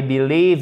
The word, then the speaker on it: believe: Vous voyez, par exemple, si je vous dis, pour que vous compreniez bien la différence, I believe you, ok? I believe you, accent tonique ici, là, sur la deuxième syllabe.